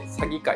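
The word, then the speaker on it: 鷺怪: 鳥の詐欺に怪物の怪と書いて詐欺界って読むんですけど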